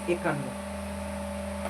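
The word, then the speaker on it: একান্ন: So 51 means ekannô. Ekannô, ekannô, double no.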